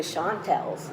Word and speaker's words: Chantels: and we were the shantel's nobody pronounced it correctly they flattened the a and made us the shanty of the shanties and all these years wonderful so I know that you auditioned for mr.